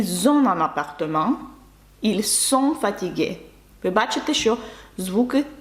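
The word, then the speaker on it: ils sont: та на дієслово мати Зверніть увагу на вимову особливо третьої особи множини ще раз якщо ви кажете вони є тобто дієслово бути так вони є втомлені це буде звучати як ільсон фатігей сом саме звук с якщо ви скажете Вони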